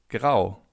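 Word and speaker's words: grau: Gray in German means grow. Grow. As you can see in German, if you have the letter A followed by a U, you have an O.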